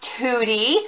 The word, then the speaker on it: Tutti Dolci: these, Tutti Dolci, and it is pronounced Tutti because I asked while I was there the other day.